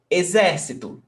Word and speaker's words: exército: Exército, 4 syllables. And the stressed syllable is not the last, not the one before last, is the one before that one.